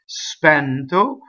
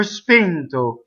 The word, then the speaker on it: spento: There are a few words that can be pronounced either open or closed. And spento can either be pronounced spento or spento.